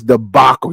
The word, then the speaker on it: debacle: well regarding the Fox Sports One debacle it's debacle you dummy involving Joy Taylor and a lawsuit